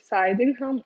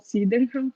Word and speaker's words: Sydenham: E aí, como eu estava falando, aquelas crianças estavam apresentando, era justamente a Coreia de Sydenham, ou Sydenham, como preferir fazer a pronúncia, que é uma